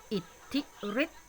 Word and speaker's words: อิทธิฤทธิ์: ต่อ ไป นะ คะ อิทธิฤทธิ์ อิทธิฤทธิ์ นะ คะ รอ ก็ ไม่ ต้อง ไป ออก เสียง อะไร คะ ลูก มัน จะ